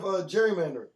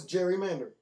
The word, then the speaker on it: gerrymandering: Have you heard of gerrymandering? No, I don't think you said it right. No, it's gerrymandering.